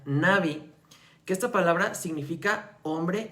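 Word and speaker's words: נביא: Las palabras que se utilizaron en el Antiguo Testamento es la palabra, obviamente que viene del hebreo, que se pronuncia Navi, que esta palabra significa hombre inspirado.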